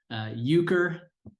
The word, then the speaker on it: Euchre: So that is how it's pronounced, at least in the Midwest of the United States, Euchre.